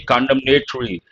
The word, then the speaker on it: condemnatory: N is silent, but when you say condemnatory, you have to pronounce that.